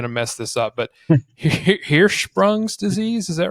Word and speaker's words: Hirschsprung's: I'm probably going to mess this up, but Hirschsprung's disease. Is that right? Did I get that right? Yeah, so it's called Hirschsprung's. But it's spelled like that, but yeah, so it's called Hirschsprung disease.